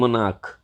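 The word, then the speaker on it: monarch: है UK longest serving मानक मनक बोलते हैं इसे आर साइलेंट होता है मुनक का मतलब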